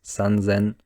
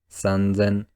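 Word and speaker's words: 三千: is one less so to make the pronunciation easier Japanese started pronouncing three thousand as sunsen once again sunsen and 8000 as Hassan again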